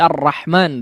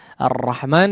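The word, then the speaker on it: الرحمن: eh Alif kecil ya Alif kecil di atas huruf yang dipanjangkan seperti ar-rahman di sini ya ar-rahman disitu memang tidak ada Alif sebetulnya ya untuk penulisannya tapi ya disitu memang dipanjangkan cara membacanya sehingga diberi tanda Alif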